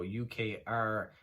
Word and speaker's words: Ukrposhta: Philatelia, which is spelled Filatelia, and Ukrposta, so Ukrposhta, which is located in Kharkiv, Kharkiv.